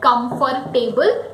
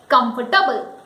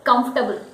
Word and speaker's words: comfortable: No, Going by the spelling, people call it comfortable because it has at last T-A-B-L-E, table. So people say it comfortable. But the correct pronunciation is comfortable. It is comfortable.